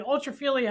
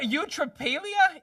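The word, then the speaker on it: eutrapelia: Ultrailia.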